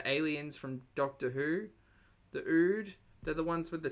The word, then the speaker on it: Ood: Ood is in wood.